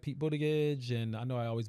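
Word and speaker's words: Buttigieg: Is it butt, but it's boot, but it's not butt. It's boot. But it's spelled like butt.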